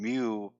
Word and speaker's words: mu: equals x-bar or mu-x and Moo I should indicate this Moo scree quiter me is spelled phonetically how it sounds you and what it